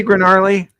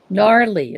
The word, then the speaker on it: gnarly: we hear you fine hey garly gnarly it's gnarly I've been wanting to tell you that a long time but it's got G in front of it yeah g is silent like katcha oh okay